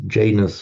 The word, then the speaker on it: Janus: You have the uh the god Yanos. Oops. Pins pins playing up again. often comes said in English is Janus or Janus which is the the the the gatekeeper god.